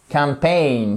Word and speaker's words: campaign: Mar C on marketing campaign campaign accentonique sur la deuxième partie du mot pain c'est la même prononciation que le mot alors ça le mot